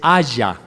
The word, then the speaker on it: haya: Es haya, H-A-Y-A. No es español, no es del verbo haber, haya. Es del hebreo haya. Se escribe lo mismo que haya en español, pero es totalmente diferente.